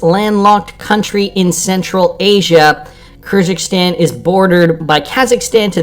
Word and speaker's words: Kyrgyzstan: i'm not butchering it every single time kyrgyzstan kyrgyzstan that's how we'll pronounce it so this is interesting considering we